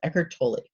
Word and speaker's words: Eckhart Tolle: Eckhart Tolle tol le you know the name that nobody knows how to pronounce but that's how you pronounce it Eckhart Tolle and then for the